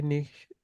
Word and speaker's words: nicht: এটা ক্ষয়ের মতো উচ্চারণ হবে। নিক্ট নিস্ট। ওই যে অনেকটা হচ্ছে ওই যে আমরা ইয়া পড়ি না, আটের আটের যে উচ্চারণটা আট। হ্যাঁ, আখ, এটা নিক্সট।